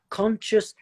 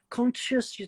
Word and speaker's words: conscious: so con conscious Consciousness whereas conscious conscious your tongue does to come up but it doesn't need to be touching so they're really similar